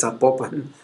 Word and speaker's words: Zapopan: parque donde está la iglesia Nuestra Señora de Zapopan, es Zapopan, y siempre lo pronuncio mal, qué pena.